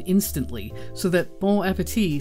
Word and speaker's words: bon appétit: in the original language imagine hearing B appeti pronounced bone Appetit not exactly what you